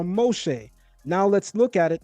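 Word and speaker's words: משה: Note the colam vowel dot above the top left of the mem. That's this right here. And it and pronounce o and the shin dot on top of the right leg of the shin making it sh instead of s as well as a seigull vowel. Three dots under the shin making an e sound. So in pronouncing it we get Moheay or Moshe.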